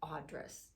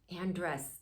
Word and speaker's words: Andrus: interview with a dear friend of mine audris did I pronounce that right Andress Andress and has been a psychotherapist for over